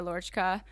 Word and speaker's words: Laurchkaa: name is Lauren or my Instagram in YouTube our Lorca that is how you say it yeah I'm a moto